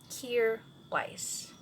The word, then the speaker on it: Kjaer Weis: Kjaer Weis, and the spelling is kind of off, but it's because of the founder, who's Danish, so it will be